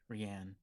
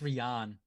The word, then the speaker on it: Rhian: he would call me rhianne really dude whatever whatever hey i'm fine with it no it's ryan it was rihanna oh rion uh-huh yeah